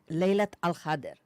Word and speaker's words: Laylat al-Qadr: How do you pronounce it? Laylat al-Qadr.